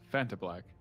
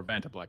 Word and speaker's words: Vantablack: It is a sword made out of some black material that is almost completely dark, like Fanta Black. Or Vanta Black, I always say it wrong.